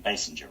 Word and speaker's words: Basinger: Bassinger, right?